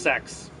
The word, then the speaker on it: CeX: in America and actually it's pronounced sex which is kind of